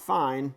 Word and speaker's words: fine: So if you see this, it says al fine, not fine, but pronounced fine, it means the end.